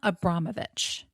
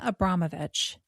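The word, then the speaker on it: Abramović: Her name is Marina Abramovich, and I'm going to spell her last name because you're going to need to go look some of this stuff up.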